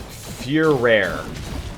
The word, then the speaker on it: Furere: Furere. That is actually how you pronounce it. I watched the cutscene in the beginning.